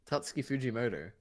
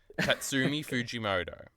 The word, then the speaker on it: Tatsuki Fujimoto: Wait, why can't you pronounce his name? Which one? You could definitely do it. Tatsuki Fujimoto. Tatsuki. You're so close. That's Like, a you're shit so name. close. Tatsumi Fujimoto.